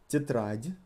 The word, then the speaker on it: тетрадь: Тетрадь, notebook, тетради, with the rolling R.